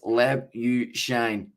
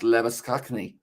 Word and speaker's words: Labuschagne: Of course, depends on whereabouts you're from, whether you are saying it with the Afrikaans accent or whether you are going with the way that he has decided to pronounce it.